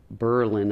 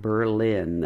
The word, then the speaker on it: Berlin: I actually grew up outside of a little town called Berlin, Ohio, not Berlin. I guess they changed the pronunciation during the First World War or whatever.